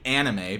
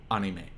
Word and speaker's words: anime: You wouldn't say anime because anime puts the stress on the a at the beginning of it. You would say anime.